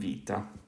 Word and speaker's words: βήτα: But okay, so we have alpha and beta, or alpha and vita. I'm probably going to start using the modern Greek pronunciation just because I think